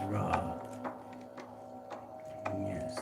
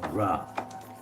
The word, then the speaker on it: Ra: Raw. Raw. Pronounced raw or ray was the god of the heavens, the sun, and the origin of life in Egyptian mythology.